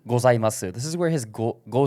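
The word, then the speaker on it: ございます: And then we have gozaimasu, which is nakadaka, so it should start low, go up and stay level, and then drop. If we go here, for me, gozaimasu, right? Except this is silent, so you can see the pitch actually cuts out.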